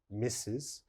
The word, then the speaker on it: Mrs.: a look the first one mrs mrs is pronounced mrs misses and missus is used only for married women